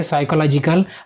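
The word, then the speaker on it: psychological: Spelling बराबर ध्यान में रखना, पी क्या होता है उसका साइलेंट होता है, ठीक है। जब इंग्लिश का मॉडल पढ़ेंगे ना तब ये भी पता चल जाएगा, ठीक है। तो ये पी साइलेंट होता है, तो इसका डी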